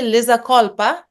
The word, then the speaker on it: Liza Colpa: York um just let me check if I pronounce it correctly lizza kPa yes that is correct and also I I